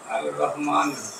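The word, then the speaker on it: الرحمن: তান দুইটা পেশ আর রহিমু এইখানে কি হবে আর রহমানু আর রহমানু এটা তো বুঝছো না আর রহমানু আমরা আলিফ লাম লামের উচ্চারণ হইতেছে না কারণ এটা হুরুফে শামসিয়াত আর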